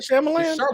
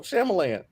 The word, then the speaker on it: Shyamalan: right first but um it's not Chamberlain what is it that's how I've been saying it since I was 12. shamalan got the whole guy